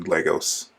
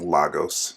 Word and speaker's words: Lagos: to Wanda's mess in Lagos. Oh, and as an aside, it's really annoying that throughout this episode they keep pronouncing Lagos wrong. They keep saying Lagos.